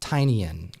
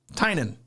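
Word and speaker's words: Tynion: Dude, people on this very team, like I have to correct Russ how to say it because he calls him Tinyan. Correct, as did I for a long time. Tynan. There we go.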